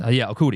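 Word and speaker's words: Okudah: I forgot how he's pronounced his last name. Okuda.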